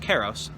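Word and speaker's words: kairos: terms as i said i believe it's pronounced keros and basically karos is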